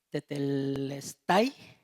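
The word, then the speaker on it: τετέλεσται: Y esta palabra que a mí me cuesta mucho trabajo, tetes, tetel, mi hermano Gama la pronuncia bien bonito cuando me cuando explica esta parte. Tetelestay, de Telestay.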